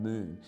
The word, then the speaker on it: Mun: name was Abraham it's it's spelled Mun but pronounced he pronounced it moon Abraham moon he died in 1937